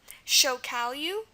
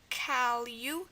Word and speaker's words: chocalho: It's spelled LH, and this is pretty typical of Portuguese. But again, there's only 2 words that utilize it, so 2 words, and those 2 words are, let me give them to you. Those 2 words are Savelia, which we just saw a couple minutes or even a couple seconds ago, Savelia, and Chocalho, which is spelled like this, Chocalho. chocalho. Again, we have the lia in there.